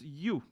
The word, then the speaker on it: ewe: It's pronounced U. It's pronounced U. This word is a pronounced U.